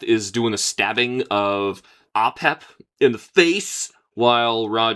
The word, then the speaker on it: Apep: Raw from the serpent Apotus or Aep. I thought it was Apep.